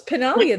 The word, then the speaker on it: Pinaglia: we also have pinalia i hope i've said it correctly pretty close pannellia the g is silent thank you italian right